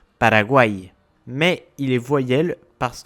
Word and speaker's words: Paraguay: Ça veut dire qu'on va accentuer la fin du mot. Par exemple, Paraguay.